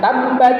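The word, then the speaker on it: تبت: Contoh nih di dalam yang sering kita hafal aja surah alahab bacanya tabbat yada abi lahab tabba itu kan ada bnya doble. Ba itu bnya dobel ada siddah terakhirnya.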